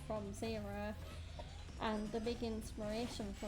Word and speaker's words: Xero: they were Linkin Park was Zero, but spelt with an X, so like Zero.